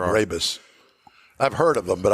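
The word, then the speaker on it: Brabus: Barabus. I've heard of them, but I I don't know anything about them. I've always mispronounced it as Barabbus.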